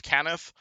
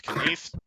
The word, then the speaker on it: Cannith: One of the largest and most prolific is known as House Cannith, or House Kneith, or House Kneith, depending on how you want to pronounce it, essentially.